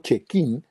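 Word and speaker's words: Cecchin: de gianfranco check in en italiano check in se pronuncia el nombre de él en italiano la c y es que la c y es sí ok y con la h suena como nosotros entonces gianfranco check in y el otro de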